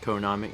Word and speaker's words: Konami: Dossett says the pronunciations because the numbers are pronounced Co Nami I see that happens